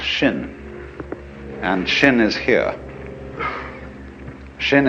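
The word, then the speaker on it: 心: pacify my my mind in Chinese mind is um this word pronounced shin and shin is here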